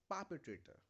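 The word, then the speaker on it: perpetrator: इट is pronounced as पापेट्रेटर। पापेट्रेटर, you need to focus on पापे। थोड़ी देर के लिए इसको प्रोनाउंस ऐसे बोलो कि दिस इज पापी, पापी ट्रेटर।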